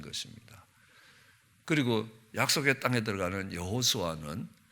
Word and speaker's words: 여호수아: 그리고 약속의 땅에 들어가는 여호수아는 이렇게 좌슈아, 그리고 이 예수와의 이 히브리식 발음이 여호수아라는 겁니다. 여호수아라는 것은 이렇게 그릭 발음으로 하면 예수와, 이 히브리어로 보면 이렇게 좌슈아 이렇게 되는 겁니다.